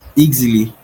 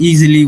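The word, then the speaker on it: Eexily: be cheaper and still get people to pronounce the word easy like it's easily it's easily done.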